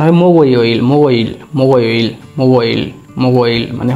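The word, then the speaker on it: 목요일: তাহলে উচ্চারণ হবে মোগোইল, মোগোইল, মোগোইল, মোগোইল, মোগোইল মানে হচ্ছে বৃহস্পতিবার, মোগোইল।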